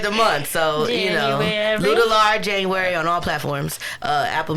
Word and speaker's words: Luedellar: I tell a lot of people it's like ludicrous, but it's Luedellar. And when the audience asks how to say it, I sing it. It'll be like, Luedellar is on your mind.